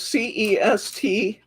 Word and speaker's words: C'est la vie: Also known as CESTLAVIE. C'est la vie. See, I had to ask Margie how to pronounce it.